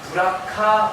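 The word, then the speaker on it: בְּרָכָה: 이 히브리어로 복이라고 하는 단어가 베라카입니다. 이 베에서 에 발음이 워낙 짧은 말이기 때문에 어떤 사람들은 브라카라고도 이야기하는데요. 가끔씩 동네 가보면 이 동네는 없군요. 방배동에는 브라카 어학원이라는 곳이 있어요.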